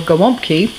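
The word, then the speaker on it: gołąbki: today i am making stuffed cabbage or gawamki um that's the polish uh pronunciation and uh step one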